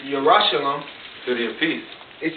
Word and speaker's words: Yerushalayim: It says, but Jerusalem, which is how you say the word Jerusalem in the Paleo-Hebrew, Yerushalayim.